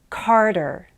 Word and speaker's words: Carter: Remember to make it sound like a D. Peter, Carter, Atticus, Natalie, Felicity, Catalina.